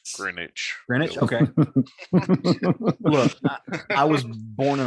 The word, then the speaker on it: Greenwich: scenes with the dragon specifically um you don't pronounce the w in green green witch it's greenwich greenwich i was born in a rice field